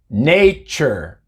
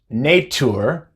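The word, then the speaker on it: nature: stadium es esta netzer nate ser no es nate sur sino que es nate ser porción forza no es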